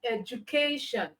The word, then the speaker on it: education: Now, if you pronounce the word, you have education. All right. So the K there is louder, it's longer, and then it's produced or pronounced with the high pitch.